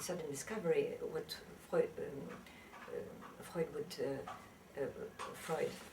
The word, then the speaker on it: Freud: What Freud would Freud, excuse me, I pronounce it in the German way.